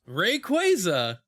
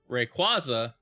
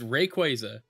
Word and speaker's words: Rayquaza: This is something that came out of Pokemon Worlds, but uh Pokemon Company confirmed Rayquaza is pronounced Rayquaza after many years of fans saying it wrong.